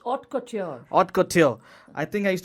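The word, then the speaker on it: haute: this is the word how do you say hotk is that how you pronounce it ma'am it's Ot Ot I think I used to make fun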